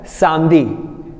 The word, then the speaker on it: samedi: Here in the Saturday, samedi, we are not going to pronounce E. E is silent here, so we are going to pronounce it as Samdi. S-A-M-D-I.